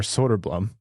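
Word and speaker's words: Söderblom: to say it and he said Soder Blum so from now on it's soderblum and I'm so sorry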